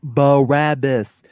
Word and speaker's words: Barabbas: It's pronounced Barabbas.